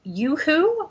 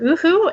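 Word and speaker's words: UHU: glues so one is I think it's pronounced Yoo-hoo or oohoo it's spelled u-h-u oh we used to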